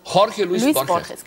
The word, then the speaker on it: Jorge Luis Borges: Wie spricht man Jorge Luis Borges aus? Genauso, wie Sie gesagt haben. Jorge Luis Borges.